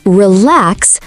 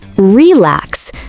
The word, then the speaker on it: relax: Also, practice word stress. For example, say relax, not relax. The stress is on the second syllable.